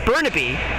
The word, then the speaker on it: Burnaby: team out of I believe it actually is pronounced Burnaby BC so I'll make sure I say that